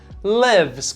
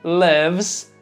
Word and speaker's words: lives: Cuidado daí para não confundir com a pronúncia do verbo viver quando conjugado na terceira pessoa, para he, she, it, que daí vai se escrever igual a vidas, mas a gente vai pronunciar lives, quando você quer dizer ela mora em Londres.